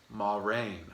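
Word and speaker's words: Moiraine: favorites by far um her name is ma rain ma ma raine damodred uh she's an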